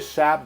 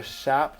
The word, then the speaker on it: SHAP: an example of a shop summary i actually don't even know if i'm pronouncing it correctly it may be shape because it's shapely so maybe i should be saying shape i don't know if